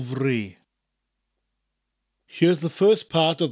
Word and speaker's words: fri: And you'll notice that the word fri, which is spelt F-R-I, sounds different to the F sound in English. An F in Welsh is always a V sound, and a double F is the more traditional F sound that we get in English.